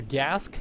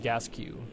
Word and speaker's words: Gasquet: And Osiris Gaming saying it's Gask, not Gasquet. I'll tell you what, man, I think it's pronounced that way too, and if it was my last name, that's how I would pronounce it, but I've been told by Jarrett himself that it's pronounced Gasquet.